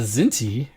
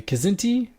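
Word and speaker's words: Kzinti: and that is the zinty or the kazinti did we decide it was kazinti or i think it's pronounced both ways okay zinty is dangerously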